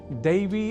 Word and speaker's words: दैव: वस्तुतः इन शब्दों के उच्चारण में ऐ इस अक्षर का विशेष ध्यान रखे जाने की आवश्यकता होती है। अर्थात यहाँ ऐ का उच्चारण ए इस अक्षर के रूप में नहीं करना होता, क्योंकि यहाँ बात शुद्धता की है। तो दैव के उच्चारण में ऐ के स्थान पर यदि हम उच्चारण ए कर दें तो देव यह शब्द सुनाई देगा।